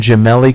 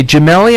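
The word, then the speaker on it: Gemelli: pack filler omloop and jamell coffee and when I say jamell I'm going to spell it out for you because I know it sounds weird g e m e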